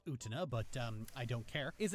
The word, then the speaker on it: Utena: Utena, I know it's pronounced Utena, but I don't care, is an anime from the 90s that is considered mandatory watching for every sapphic weeb over 30.